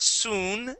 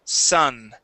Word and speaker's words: sun: Now, remember, John, in English, we rarely have a U that is written as a U that makes an oo sound. Rarely. Okay? This word is not soon. The word is sun.